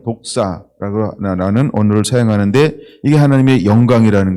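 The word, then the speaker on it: δόξα: 발음은 독사라는 언어를 사용하는데 이게 하나님의 영광이라는 거예요.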